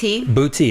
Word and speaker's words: Buti: Buti. That's what I thought. Okay. And I thought, okay, I've never heard of this before. Yeah. And it may be very popular. I don't know, but I had never heard of it.